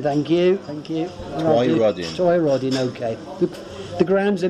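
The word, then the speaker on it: Twynrodyn: goodness me, Ballai Glass, is that how I pronounce it? Glass. In Twin Rodin Road. This is getting worse. Twyrodin. Twyrodin, thank you. Twyrodin.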